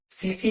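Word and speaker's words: tsetse: सीसी मक्खी, सीसी मक्खी, इसमें टी लिखा जाता है, वो टी साइलेंट होता है।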